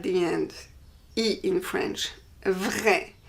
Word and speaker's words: vrai: For example, vrai. Vrai means true. Vrai. There is an I at the end, I in French. Vrai. For the feminine, we add an E, but the pronunciation doesn't change.